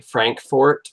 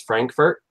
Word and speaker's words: Frankfort: We have a town nearby, Frankfort, but everybody says Frankfurt, and the people from Frankfort don't like it when you say Frankfurt.